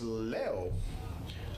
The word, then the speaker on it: Leo: We kept hearing Lee, but it's Leo for the batter here, the left fielder with runners in scoring position.